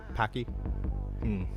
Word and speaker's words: Paak: Packy. Pack. Maybe not Packy. I've heard it pronounced pack.